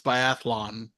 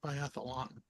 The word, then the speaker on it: biathlon: Oh, by the way, we're mispronouncing biathlon. It's biathlon, not biathlon.